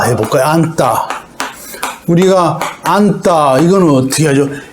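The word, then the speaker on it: 앉다: 지읒은 탈락하고 니은으로 발음한다. 안따 하잖아요. 요거는 어떻게 발음하냐면, 안따. 이렇게 뒤에 오는 예사 소리를 쌍디귿, 된소리로 발음한다.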